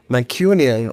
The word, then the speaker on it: Mancunian: we know the Manchester, how would you say Manchesterian people? How do you say? Mancunian.